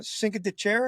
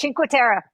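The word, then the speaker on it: Cinque Terre: It it's it's uh we just And we just got back from uh Sink Deer, I guess. Is that how you say it? Chinuera. Chinuera. Yeah.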